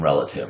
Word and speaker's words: relative: It's not saying E in relative, right? This word's not relative. Rel, finger space, ah. That ah is a syllable all by itself.